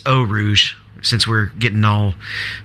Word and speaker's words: Eau Rouge: Looks good, and it's Eau Rouge since we're getting all pronunciation perfect now.